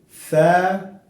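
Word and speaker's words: ث: Alif, alif, ba, ba, ta, ta, tha, tha. Look, you will use your tongue between the upper and lower teeth.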